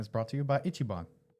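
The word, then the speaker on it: Ichiban: I thought it was Kabon. I know you like during the show. How you say it, Chris? Andrew. Didn't you think it was Icaban?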